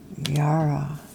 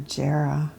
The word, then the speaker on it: Jera: Yara or Jera. Heard it pronounced a few ways, but either way, it's a great card.